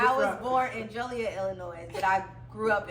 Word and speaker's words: Joliet: Y'all know I'm from New York, so when I first came out, I used to be like Juliet. She like, no, it's Joliet.